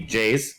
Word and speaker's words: Jaze: Maybe Jaze, do you know?